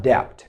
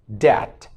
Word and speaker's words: debt: my fingers went numb the last word is debt debt it's not debt it's debt debt when you borrow money